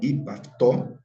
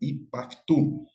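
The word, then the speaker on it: ὑπ' αὐτοῦ: Nós percebemos que a vogal da preposição, ela é assimilada, ela cai, porque ela é seguida por outra vogal. Então, fica ipaftu, ok?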